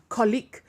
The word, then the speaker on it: colleague: the dictionary saying okay this is how you should be pronouncing the word colleague and not colleek for example okay so that's the